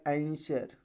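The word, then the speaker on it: answer: अब हमने नियम बताया किसी भी वर्ड में एस के बाद डब्लू हमेशा क्या होता है साइलेंट होता है एस है सस के बाद क्या है डब्लू है और डब्लू क्या हो जाएगा साइलेंट हो जाएगा तो क्या पढ़ आंसर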